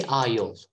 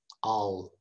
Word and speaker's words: I'll: you done that one don't say aiol don't say i'll just say all okay i'll i'll let